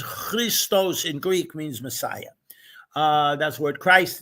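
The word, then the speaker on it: Χριστός: And the P in Greek and in Russian is an R. So XP is Cairo, sounding like the city of Cairo and have nothing to do with it. And it's pronounced Christos.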